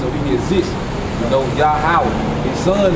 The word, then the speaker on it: Yahweh: His name is Yahweh. All right, meaning he in the Hebrew, and Yahweh meaning he is or he exists. You know, Yahweh.